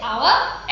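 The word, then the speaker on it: hour: हम देखिए यहाँ पर जो H है ये बहुत साइलेंट है, इसमें H का साउंड उच्चारण नहीं होता है, H का साउंड हमें सुनाई नहीं देता है। हम इसे आवर एंड ऑनेस्ट मैन बोलते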